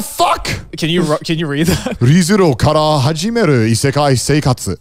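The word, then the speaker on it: Re:Zero kara Hajimeru Isekai Seikatsu: ReZero kara hajimeru isekai seikatsu. Very good. No, pronunciation was on point too.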